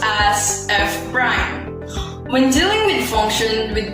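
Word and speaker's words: f′: derivative of f is expressed as f apostrophe pronounced as f prime when dealing with function with only one variable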